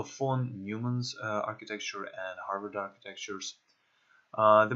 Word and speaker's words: von Neumann: two different architectures phone I think this guy's name is pronounced Neumann so phone newman's architecture and Harvard architectures